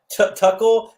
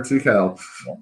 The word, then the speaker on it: Tukel: of people call it tuckle they call it turkel they see an r in the name that isn't there but order